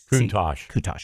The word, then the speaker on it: Countach: I don't know how to pronounce this. Countach. Countach.